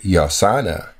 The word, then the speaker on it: Yosanna: They would have put those two together, that Yosanna is the pronunciation of those three letters, Yod, Shin, and Nu.